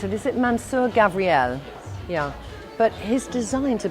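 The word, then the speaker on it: Mansur Gavriel: Gavriel excuse me is it how do I pronounce it is it Mansoor Gavriel yeah but his designs are beautiful and unusual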